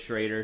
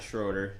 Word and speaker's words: Schrader: Schrader and DeBrew. It's Schrader. It's not Schroeder. It's Schrader. Schrader. Yeah. Okay. Schroeder. No, Some people say Schroeder. Yeah, 'cause I mean, yeah, it can be pronounced either way.